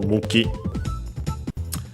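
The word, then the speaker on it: 向き: Actually, on its own, accent on the first syllable, Muki.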